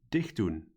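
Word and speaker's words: dichtdoen: They are pronounced as follows: dicht doen, meenemen, ophalen, schoonmaken. Did you notice that in all cases the stress or emphasis in pronunciation was on the first syllable?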